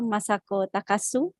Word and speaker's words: Masako Takasu: lecture for today for professor masako takasu it's a proper pronunciation yes very good okay okay yeah professor